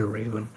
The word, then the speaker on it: Raven: And then Reven, is it Reven or Raven? How do you want to pronounce it? Just say Raven. Oh, Raven.